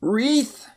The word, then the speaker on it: wreath: Next one is a wreath, like they might put a wreath on your door.